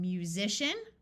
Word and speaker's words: musician: This one is shun, like in musician, where the S has the Z sound, or politician.